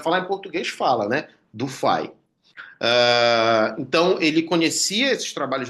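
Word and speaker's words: du Fay: Não é Dufay, tá? O meu professor de eletromagnetismo falou Dufay, fala Dufay, que é a pronúncia francesa adequada disso.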